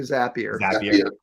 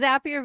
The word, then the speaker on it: Zapier: Well, they call them Zaps, so it's probably Zapier.